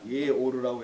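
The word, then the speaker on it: 예오르: 이것 봐 바로 못합니다 이에 오르라고 해요 이제 같소 드렸잖아요 예 오 라고 발음합니다 이 오르 라는 뜻은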